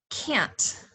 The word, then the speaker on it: can't: Next, can't. Can't sounds like k and the word ant, like the little bug.